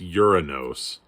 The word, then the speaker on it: Uranus: uranus by the way it's not your anus everybody it's uranus that's how you say it think thanos but uranus um